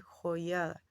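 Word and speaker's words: Joiada: La palabra se lee correctamente joyada. Estoy diciéndolo en términos de español porque si hablamos en hebreo, pues en hebreo se pronunciará diferente pronunciación que, por cierto, yo desconozco.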